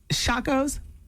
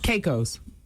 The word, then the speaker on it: Caicos: of the Turks and the how do you pronounce it shaco's Kate Caicos and the Caicos Island he got down on